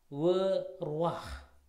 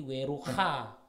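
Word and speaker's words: וְרוּחַ: Dia bukan menjadi weruha ya, seperti ini. Dia bukan weruha, bukan, tapi weruah ya, weruah. Oke.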